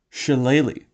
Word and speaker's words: Shillelagh: So, a great cantrip for druids is this one, Shillelagh, and I will accept no other pronunciation.